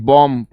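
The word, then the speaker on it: bomb: B silent रहता है जिसके लास्ट में एम बी आता है उसमें ब साइलेंट रहता है ठीक है याद रखिएगा जिन जैसे इट इज कॉम B silent रहेगा ठीक है ऐसे ही बम तो बी नहीं आएगा बम बम नहीं खाली बम यह बी साइलेंट रहेगा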